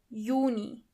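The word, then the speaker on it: Juni: Yuni. As you know, the letter yacht is not pronounced as but as ye.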